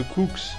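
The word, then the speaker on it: Koox: Allez, bye Cooks, ça s'écrit K-O-O-X.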